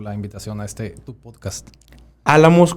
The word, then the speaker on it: Álamos: Álamos con acento en la primera A.